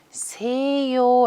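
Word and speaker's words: 西洋: 서양 이라고 하는 뜻인데요 서양 할 때는 세 요 라고 읽을 거예요 서양은 3 이어 오른쪽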